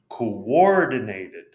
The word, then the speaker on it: coordinated: Coordinated. Coordinated. You could argue that that's three or that it's four. So there's like a U sound at the beginning. Between the O's.